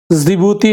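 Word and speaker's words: Djibouti: हैं एरिट्रिया है Eritrea जिबूती है में डी साइलेंट होता है इथोपिया है इथोपिया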